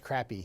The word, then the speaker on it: crappie: You want I love the fact that you can catch crappy here. Sounds kind of weird, but that is how you pronounce it, right?